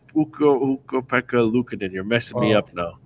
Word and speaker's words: Ukko-Pekka Luukkonen: Well, Ukko-Pekka Luukko-Pekka-Lainen? No, it's not like a Lainen. It's Ukko-Pekka Luukkonen.